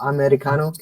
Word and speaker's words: Eddie Cano: Let's see if I can pronounce that right. Did I get that right, Carolyn and Massimo? Eddie Cano?